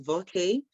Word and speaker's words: Voke: So my name is Voke, and it's pronounced V-O-K-E with a hyphen.